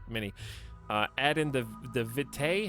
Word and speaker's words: vitae: do you say that it should be vidi but it's probably not pronounced that way by tom no that's that's a different word it actually should be vidi because uh aegis is aegis so like the ae sound should be like a e sound actually so